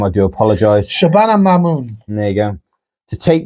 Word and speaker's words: Shabana Mahmood: What a moment for, I can never pronounce the name, I do apologise. Shabana Mahmood.